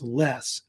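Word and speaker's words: loess: pronounced it's spelled l o s but it's pronounce less and it does have a yellowish brownish color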